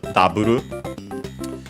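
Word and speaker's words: ダブル: So uh taburu u should be often pronounced in case dabu uh and also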